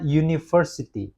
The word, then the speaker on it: university: Karena university. Nah, dilihat dari pengucapannya, bukan dari huruf pertamanya. University. University. Berarti U ya. Lebih kepada Y gitu.